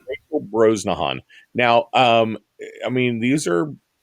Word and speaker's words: Brosnahan: Okay, I cannot pronounce her name. Brosnahan. Brosnahan. Rosenhauen. Rachel Brosnahan.